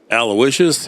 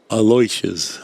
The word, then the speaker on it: Aloysius: about Aloysius, and then I'm American, so I'm Aloysius, and she was laughing at me. No, it's not how you say it. Aloysius.